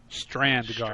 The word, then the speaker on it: Strandgard: Vanguard, you said? Strand guard. Strand guard, okay. Correct.